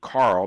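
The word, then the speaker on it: Kahrl: professor and historian Andrew Carl that's spelled KRL uh in case you need to know that and you probably do because it ain't it it ain't spelled like it sounds Andrew Carl k a hrl is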